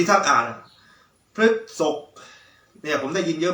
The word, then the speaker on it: พฤษภ: นะ มัก ที่ จะ ออก เสียง ราศี พฤษภ ออก เสียง ผิด นะ ครับ หลาย ท่าน หลาย คน นะ ออก เสียง ผิด ออก เป็น พืช สด บ้าง นะ ครับ ก็ อยาก